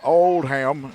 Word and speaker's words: Oldham: And Oldham, and that's how you pronounce her name, is like Old and Ham.